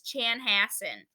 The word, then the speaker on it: Chanhassen: their names similar so in case you couldn't pronounce Sal's mother's name it was Chanhassen so Chanhassen was an indian name and it